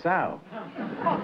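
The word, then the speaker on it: sough: That kind of a sow is S-O-U-G-H. That's pronounced Sue.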